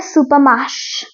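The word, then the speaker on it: supermarché: होता है ना सबसे ज्यादा इसको बोलते हैं सुपर माश सुपर माश तो इसको फ्रेंच में मैं आपको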